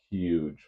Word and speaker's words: huge: Don't pronounce huge like Donald Trump, please. It's huge with an H.